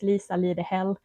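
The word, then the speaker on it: Lisa Lidehäll: It's lisalidehall. The A with 2 dots on it, it's called Ä. So I basically have hell in my name.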